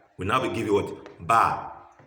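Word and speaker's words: بَ: Ba. Ba and Fatiha becomes Ba. Again, let me spell it again. Ba, Fatiha, Ba. Ba. How do we arrive at Ba?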